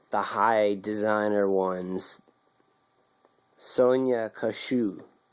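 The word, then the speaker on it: Kashuk: Sonia Kashu. I think the K is silent because it's like Russian or...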